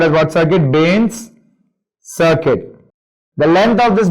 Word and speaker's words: Bain: Even though R is silent, you just remember B-A-I-N, Bain.